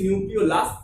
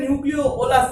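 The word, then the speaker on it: nucleolus: থাকে, তাকে আমরা বলছি নিউক্লিওলাস। অনেকে এটা নিউক্লিওলাস বলে, এটা নিউক্লিওলাসটা উচ্চারণটা একটু ভুল আছে, নিউক্লিওলাস হবে উচ্চারণটা, নিউক্লিওলাস।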